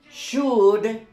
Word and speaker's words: should: You don't pronounce this, and you don't pronounce L. So it is like a big U.